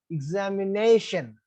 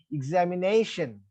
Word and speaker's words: examination: So the rule is, if any word ends in ION, then penultimate syllable should be stressed. In other words, second syllable from the back should be stressed. That's why this should be said examination, right?